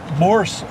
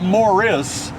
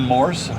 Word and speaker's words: Morse: We're driving along Morse Boulevard. Now, that's not Morris. A lot of people spell it M-O-R-R-I-S. No, it's Morse like the code.